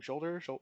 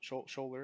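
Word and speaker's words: Sholder: Shoulder? Shoulder? Oh my god. Yeah. If you're around him, he will literally tap his shoulder and go, "Hi, I'm Jack."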